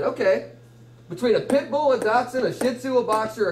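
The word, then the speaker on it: dachshund: do it's you say doson yeah it's spelled Dutch all right what you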